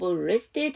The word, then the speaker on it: rested: 그 다음에 rest에다 ed를 붙였죠. td 발음에 ed를 붙이면 ed죠. 그래서 rested고요.